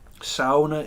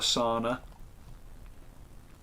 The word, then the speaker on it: sauna: the gym before he gets in the sauna sauna is the correct way to pronounce it for those who didn't know it's not a sauna the funny funny minnesota thing but yeah you